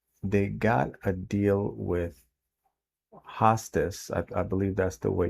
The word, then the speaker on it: Hostos: So the deal that happened here is between the new owner, the developer, and they got a deal with Hostos. I believe that's the way you pronounce it, Hostos University.